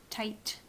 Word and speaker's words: tight: table okay all gone tight this is silent gh gh tight the job where your